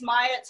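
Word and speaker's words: Mailhot: it's theresa maya um so rhymes with hyatt um her book was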